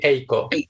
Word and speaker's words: Eiko: I say Eiko. I think it's pronounced in Japanese Eiko, but I might be wrong. Nico might know better than I do. It's very similar. I think it will be Eiko.